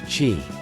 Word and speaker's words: qi: The Chinese call this energy flow, qi, pronounced qi.